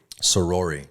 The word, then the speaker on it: Soroory: Soroory. Yeah, perfect. Soroory. I like it. People have problems Bobby pronouncing that.